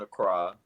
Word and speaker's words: Accra: that's the airport in Accra, and Okay. That's how you pronounce it, Accra.